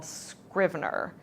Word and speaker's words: Scrivener: many authors like to use a program called Scriber. S c r i v e n er scrivener. Scrier I don't I don't like not knowing how to pronounce.